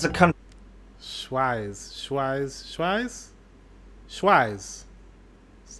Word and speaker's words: Schweiz: But a lot of Swedes actually pronounce it Swage. So they mix out the positioning of the part and put it at the end instead of in the beginning. So it should be pronounced Schweiz and not Swage.